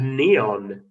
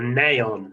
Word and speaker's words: neon: atomic mass whatever is neon neon or naon if you say it wrong um the person with